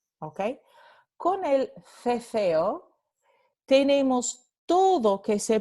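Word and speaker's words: ceceo: So cefeo is pronounced with th here and th there. So cefeo, okay? Con el cefeo tenemos todo que se pronuncia con th, la interdental fricativa sorda.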